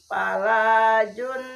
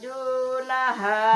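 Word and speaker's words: جُنَاحَ: Fa dalam kharajna jun juna jun, jangan dibaca sebagai matahari, jangan diucapkan jun tapi juna, junaha junaha junaha' alaikum fima fa'alna fi anfusihinna mim ma'ruf, baik Wallahu azizun hakim.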